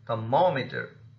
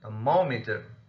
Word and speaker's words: thermometer: For example, thermometer, thermometer. Here, ma is just before meter, therefore it has received the stress.